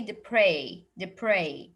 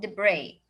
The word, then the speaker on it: debris: You will notice here that there's S at the end, but I will not pronounce it. I will stop on the I. I will say debris, not depress.